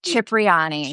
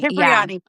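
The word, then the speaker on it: Cipriani: How do you pronounce it? Yeah. Chipriyani. Chipriani.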